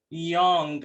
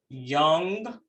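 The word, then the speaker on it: Jung: psychiatrist a psychiatrist called young and it's spelled j-u-n-g and i want to say that it's pronounced as young um who described the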